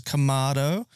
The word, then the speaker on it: kamado: shaking his head in the background there it's kamado so I do apologize for that my pronunciation is terrible um so we're going to